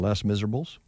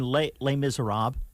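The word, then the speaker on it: Les Misérables: actress as uh in less miserables you mean les miserables no less miserable okay that too yes that's exactly the way it reads oh okay you know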